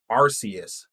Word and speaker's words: Arceus: Like everybody pronounces it different, like Arceus, but I'm pretty sure it's Arceus. It's his actual pronunciation. It's Arceus. That's stupid.